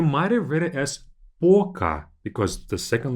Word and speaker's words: пока: We'll talk about the difference in pronunciation a bit later in this course, but this word is read as пока, as if the second letter is A, пока.